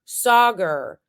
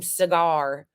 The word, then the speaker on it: Saagar: is how it's pronounced or Sager that's how it's pronounced when Sager was on on Boomer Mar or when crystal ball was he kept calling him cigar and somebody calls him cigar at one point in this too it's not cigar it's not shank or